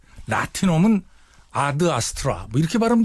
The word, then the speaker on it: Ad Astra: 것 같은데 그렇게 짜인 어 에서 a 를 점만 4 애로 발음 하겠어요 아드 아스트라 일텐데 일단 미쿡 영화이기 때문에 미국 친구들을 암투 이거 4 무조건 애도 발음 하니까 그래서 l 아스트라 로 국내에서도 개봉 하구요 예